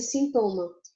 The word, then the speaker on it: sintoma: A gente fala mais forte em português, no caso de sintoma, a segunda sílaba, o to. Já em espanhol, é um síntoma. A gente faz mais força na primeira, certo?